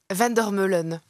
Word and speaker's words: Vandermeulen: pas pour vous hein votre nom comment le prononcez-vous Vander melon parfait votre prénom Jill votre surnom si vous